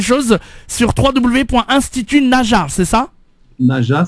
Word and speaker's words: Najah: Naja, ça s'écrit N-A-J-A-H à la fin.